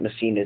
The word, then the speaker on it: Messina: Messina Designs. My last name is Messina. Make sure you guys pronounce that right.